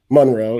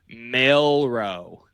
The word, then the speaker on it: Milroe: Monroe. Yeah, we add depth. No, wait, you said it wrong again. Let's try that again for all the people. Milroe. Jalen Milroe. You said Monroe, like Marilyn Monroe.